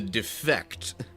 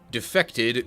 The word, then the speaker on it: Defect: I am going to gather that it's supposed to be pronounced the defect due to the self-awareness. It probably defected, meaning abandoned its purpose originally and is now sort of doing its own thing rather than it being pronounced the defect as in like, you know, referring to some flaw within its nature or programming or even just intentions.